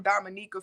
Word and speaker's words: Dominica: You know, I was peeping, looking or whatever, and I seen, I'm like, hold up, you never hear people saying they from Dominica for real, for real.